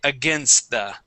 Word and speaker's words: against: that's it okay so when you have that t there we can drop that t okay because we have